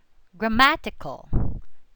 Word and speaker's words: grammatical: Grammatical, grammatical. Okay, so grammatical just before the suffix ical.